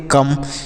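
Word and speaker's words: come: हम नहीं करते हैं किसी शब्द के लास्ट में अगर ई होता है तो उसका उच्चारण नहीं किया जाता है इसे आप याद कर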